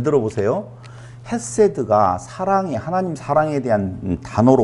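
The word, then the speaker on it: חֶסֶד: 헤세드. 그렇죠. 헤세드. 세로 이렇게 발음도 하죠.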